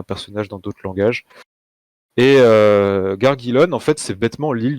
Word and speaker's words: Gargillon: Donc c'est Donc normalement, ça se dit Gargilon, prononcé par des elfes. J'accepte aussi Gargilon ou d'autres prononciations parce